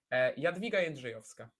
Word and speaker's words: Jadwiga Jędrzejowska: Jadwiga Jędrzejowska. That's how you pronounce it. There's no like J, right?